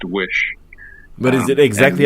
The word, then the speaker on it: Oysi: and decided I'd just take the four middle letters from my name that are pronounced Wish.